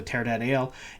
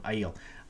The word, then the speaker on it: Aiel: while ago of the Tear Ale, and I pronounced that wrong. I'm going to pronounce things wrong. Aiel.